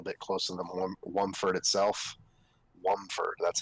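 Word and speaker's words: Womford: Wumford, that's how you pronounce it.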